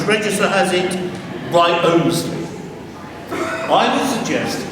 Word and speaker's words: Wriothesley: How do you pronounce the surname? Is it Wriothesley, as one member of the family signed his name, or is it Wriothesley, as on the memorial, or is it, as the Titchfield parish register has it, Wriothesley?